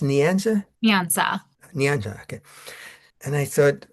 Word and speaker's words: Nyansa: and the more I read about Is it pronounced Nianza? Nianza.